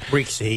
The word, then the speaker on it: Rixey: She has a primary challenge, sort of the gentleman Max Rixey, I guess they pronounce it. Rixey, yes.